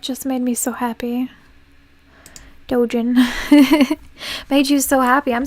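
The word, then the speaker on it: doujin: It's pronounced Dojin, also called Otoke in Japan, is a subcategory of Jojin activity.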